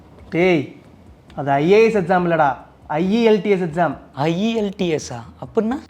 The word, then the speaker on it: IELTS: First இது IAS exam, ஐஇஎல்ஸ் exam அந்த மாதிரி சொல்கிறது எதுக்காக அப்படின்னா, ஐஇஎல்டிஎஸ் அப்படிங்கிறது தான் ஸ்பீடாக ப்ரொனவுன்ஸ் பண்ண போய் இந்த மாதிரி மிஸ்ப்ரொனவுன்ஸ் ஆகுது. ஐஇஎல்டிஎஸ் அப்படின்னா international English language testing system.